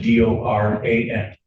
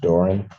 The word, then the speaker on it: Doran: spelling on the last name is D O R A N and it's pronounced Doran.